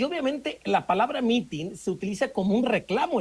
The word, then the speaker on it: mitin: gusta escuchar las propuestas pues mitin así como se escribe es m i t i n Pues la verdad es